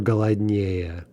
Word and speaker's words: голоднее: Now, as with so many things in Russian, there are a few isolated exceptions where an adjective with three or more syllables does get in stressed on this comparative ending. For example, холоднее or голоднее.